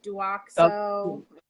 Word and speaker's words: Douxo: This is Duoxo.